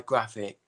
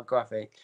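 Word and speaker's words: Grafix: Craftentation by Graphic. There you go. Craftentation by Graphic.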